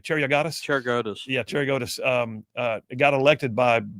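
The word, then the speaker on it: Cheriogotis: And now Spiro, how do you pronounce his name? Cheriogatis? Cheriogatis.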